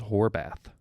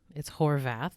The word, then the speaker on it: Horvath: His name is Horbath. It's Horvath with a V.